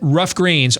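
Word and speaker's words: Ruff Greens: Rough Greens, RUFF is how it's spelled.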